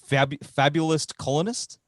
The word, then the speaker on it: Fabulist Colonist: And you're about to drop the new one, Fabulist Colonist. Is that how it's pronounced? Correct.